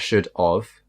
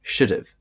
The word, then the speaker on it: should've: have done that and why it sounds like should I've done that is because there's an apostrophe ve should've not should of oh